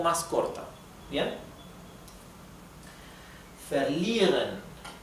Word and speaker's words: verlieren: Verlieren. La I con la E se pronuncia I, con una I más larga.